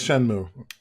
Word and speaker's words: Shenmue: Yes, it's Shenmue. I've heard people pronounce it Shenmue, so yeah.